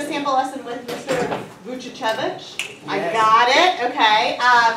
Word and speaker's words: Vuchichevich: If you take it a syllable at a time, it's kind of okay.